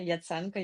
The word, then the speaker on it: Yatsenko: Hey everyone, I'm Yatsenko. Yes, you pronounced my surname correctly.